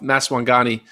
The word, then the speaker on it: Maswanganyi: Maswanganyi? Maswanganyi. I don't know how to say it. Maswanganyi. I was way off. Maswanganyi.